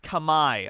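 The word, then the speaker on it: Khmer: cambodia might just be number 10 or number nine like as as that so starting it off strong with that um it's pronounced kamai okay well i messed that up at least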